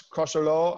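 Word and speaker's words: Crosserlough: bit of an upset cross crusher law i think is how they pronounce it versus kings court stars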